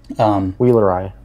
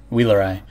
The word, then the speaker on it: Wheelerii: Wheelerii. Wheelerii. You don't say it like the EI in English, like A, like Pergande. You add the I at the end to the end of the person's name.